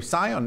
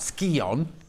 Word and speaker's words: Scion: Scion, not Skion.